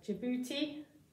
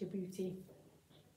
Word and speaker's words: Djibouti: it again kenya oh i don't know how to say this one djibouti i think it's your beauty this one's ethiopia and